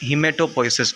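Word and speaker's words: hematopoiesis: यू कैन say that हीमेटोपोइसिस। आप इसको what ever you pronounce it, इसका मतलब सेम होता है। आप हीमोपोइसिस भी बोल सकते हो, हेमेटोपोइसिस भी बोल सकते हो।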